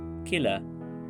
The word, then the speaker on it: Qila: While Nehru and Indira Gandhi pronounced the word as Lal Qila with the sound qa, the others pronounced it as Kila with the sound k.